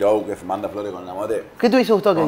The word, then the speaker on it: Lamothe: No, con la mote no, pero con la mot. Si vos decís la mot, lo pronunciás bien.